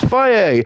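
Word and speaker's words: Fage: Let's call it fudge. Ah, yes, but people have to pronounce it faye.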